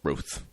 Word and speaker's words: Routh: And I've heard a different way of pronouncing his name now. Now they're saying Ruth. Have you noticed that? No. As opposed to Routh or Roth or whatever.